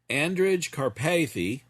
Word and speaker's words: Andrej Karpathy: Andrej Karpathy, I believe that's how it's pronounced, again, AI's co-founder, recently did a scathing interview about the state of AI.